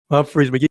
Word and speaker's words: Humphreys McGee: Humphreys McGee. See, Pro understands completely. It's not that hard. That was it. Hubert H. That's Drop the H. The H is silent.